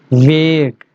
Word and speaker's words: vague: So today's word of the day is vague. Vague. Make sure when you pronounce this word va, your lower teeth must touches your upper lips.